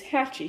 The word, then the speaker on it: Hachi: But right now, I call him a him, and his name is Hatchie. So I thought that was a cute little name. It's Hachi is how you spell it.